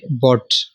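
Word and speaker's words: bought: गलत पढ़ा जाता है, इसको बाउट पढ़ते हैं लोग, बाउट, फाउट, काउट, ब्राउट और ठाउट और टाउट, ये सारे गलत हैं, ठीक है। इसमें यू को नहीं पढ़ा जा रहा, यू साइलेंट है, बी ओ टी, बॉट,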